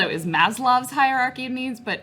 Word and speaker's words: Maslow: As I earlier called it, is Maslow's hierarchy of needs, but I got the name wrong. It's Maslow.